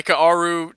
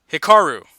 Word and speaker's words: Hikaru: you got this hi Kaoru pretty good I think you got the last name but I'm pretty sure you butcher the first name Hikaru there we go things